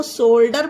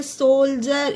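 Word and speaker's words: soldier: इसे कुछ लोग जिन्हें इंग्लिश नहीं आती वो सोल्डर पढ़ते होंगे, पर सोल्डर नहीं होता है ये फ्रेंड्स, ये होता है सोल्जर। इसमें डी का उच्चारण जा हो रहा है, क्योंकि डी के बाद क्या आया है फ्रेंड्स?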